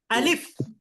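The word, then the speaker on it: ا: আলিফ আলিফ হ্যাঁ আলিফ একটু টান দিবেন না আলিফ বলবেন না আপনারা বলবেন আলিফ আলিফ আলিফ আলিফ আলিফ আলিফ একটু একটু তাড়াতাড়ি উচ্চারণ করতে হবে কোন টান হবে না আলিফ আলিফ আলিফ আলিফ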